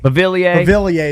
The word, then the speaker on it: Beauvillier: He leads the team with Beauvillier, however you say Beauvillier. I go with Biovler because it's close to my name, but it's Beauvillier. Beauvillier is the proper pronunciation.